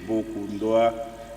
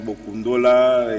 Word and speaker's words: Bokondua: Bokundoa, il y en a qui disent Bokundola, et ainsi de suite.